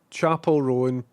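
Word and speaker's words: Chappell Roan: Um, Chapel Rowan pronounced like a chapel and Rowan almost like chaperone.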